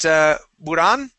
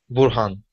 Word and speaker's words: Burhan: All right, how about Buran? Now, is it Buran All or right. Burhan? Burhan. Burhan. Okay, so I pronounced that H.